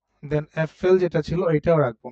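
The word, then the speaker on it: Äpfel: একের অধিক যেহেতু তার মানে কি হবে ডি এফ এল উচ্চারণটা হবে এফএল এফএল লাইক এরকম ঠিক আছে ডি এফ এল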